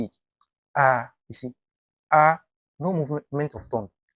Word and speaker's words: ا: The first mistake is making the sound too short. Some people will say, ah, no, that's for Hamza. We'll talk about that later.